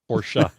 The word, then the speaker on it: Porsche: that supposed to be pronounced? Porsche.